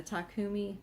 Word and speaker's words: Takumi: And then my brother, the one I made that big blanket for, he got me the Takumi, the Takumi, that's how you pronounce it, interchangeable bamboo needle set.